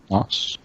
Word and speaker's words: Gnoss: Nos. Gnoss. Okay. Nos. Okay. The G is silent.